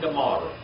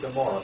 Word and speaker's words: Gomorrah: Where did the word Gomorrah, since it's Amorah here, where did we get the word Gomorrah? Where did the word Gomorrah come from, the pronunciation of Gomorrah? Where in the origin originated? The Septuagint. I found LXX right there. The Septuagint. That's where it came from. It did not come from the Hebrew.